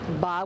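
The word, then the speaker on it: 八: a lucky number, and it's pronounced ba, which sounds like fa, which means fortune.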